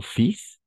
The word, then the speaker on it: fils: Ici, oui, c'est un peu bizarre, mais mon fils, non, mi hijo. Oui, n'est-ce pas? Ok. Entonces, pas fil, si la L no se pronuncia, entonces sería fils.